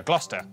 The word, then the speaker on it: Gloucester: you through a couple of basics sesta is pronounced stir leicester worcester gloucester w at the start of the final syllable